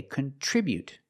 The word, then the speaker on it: contribute: With the verb, we say contribute. We put the stress on the second syllable. Contribute. Contribute.